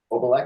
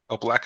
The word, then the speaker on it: Opalak: for today is OPAC did I pronounced that correctly obac is right obac is right great so we'll we'll we'll more